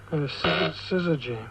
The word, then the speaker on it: syzygy: What is the meaning of, and I'll spell it, and you better pronounce it, S-Y-Z-Y-G-Y. Syzygy.